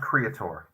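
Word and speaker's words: Kreator: Riff yeah kinda yeah it's pronounced Creator please please so ripping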